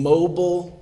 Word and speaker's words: Mobile: street I lived on mobile Lane but I pronounced It Mobile anytime I would tell somebody where I lived at we live at 25 mobile Lane like in Mobile Alabama not as in mobile let's kick the wheels